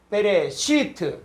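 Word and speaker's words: בְּרֵאשִׁית: 그리고 또 여기서 보니까는 시할 때 여기 점이 있죠. 그럴 때는 이 발음하는 거예요. 그래서 이게 베레시트. 자, 여기를 한번 가보죠.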